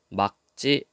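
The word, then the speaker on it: 맑지: 닭, 맑고, 막지, 여덟 이렇게 되어 있죠. 자, 그런데 여기서 여러분들이 조심해야 될 게 이거. 맑고, 막지. 똑같은 건데 앞에 있는 것은 리을로 발음했고 뒤에 있는 것은 기역으로 발음했다.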